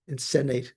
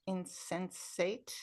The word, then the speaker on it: insensate: Insennate. I think perhaps you meant insensate. Oh, yes, I did. I did mean I did mean that. I misspoke. I said insensate. Is that's the correct pronunciation, right?